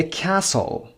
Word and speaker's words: castle: A castle. یک قلعه. Number 23. Castle. در فونتیک هم ببینید صدای ت تلفظ نشده. Castle. استرس هم قسمت اول.